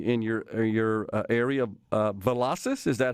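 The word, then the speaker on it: Velocys: to be locating in your your area uh velocis is that how you pronounce it that's right that's right gerard the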